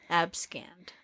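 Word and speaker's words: abscond: n d abcon abcon no the pronunciation says scanned abcann yeah AB scanned AB scanned I AB scanned any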